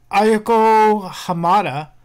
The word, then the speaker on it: Ayako Hamada: Ayako Hamada has been sentenced to 18 months in prison over drug charges.